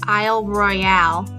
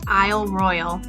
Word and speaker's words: Isle Royale: Before I came to this national park, I thought it was pronounced Isle Royale, but the boat captain and park ranger both confirmed that it is Isle Royale.